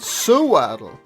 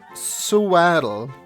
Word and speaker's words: Sewaddle: Sewaddle. Swaddle? It's pronounced like sewing. Sewing?